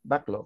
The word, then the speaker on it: backlog: in whatever place okay backlog that is black black backlog it's backlog sorry because of the L it's backlog backlog back all right